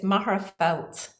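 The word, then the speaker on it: Magherafelt: pronounce it please do it's actually the anglicized um it's maharafelt maharafelt north of ireland thank you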